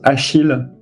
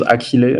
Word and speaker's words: Achille: In French, it's pronounced Achille, but you can use I don't mind really. You can use Achille. It's like more of the Greek way of saying my name, and so it's kind